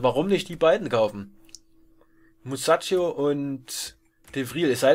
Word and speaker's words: Musacchio: Ach nee, der heißt gar nicht Muchacho, sondern Musacchio. Wird wahrscheinlich nicht Muchacho ausgesprochen.